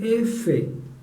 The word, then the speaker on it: efe: volvía a decir no digan e sino digan Efe e era la respuesta de todos otra vez